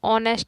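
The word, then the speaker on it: honest: 9 number है ही इज, अब देखो यहाँ पे ऑनेस्ट पढ़ेंगे इसको, ये भी एस साइलेंट है तो ऑनेस्ट वर्कर, तो यहाँ पे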